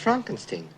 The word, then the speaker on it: Frankenstein: Frankenstein. You're putting me on? No, it's pronounced Frankenstein.